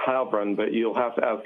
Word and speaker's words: Heilbrun: I believe it's Heilbrun, but you'll have to ask him how he prefers it.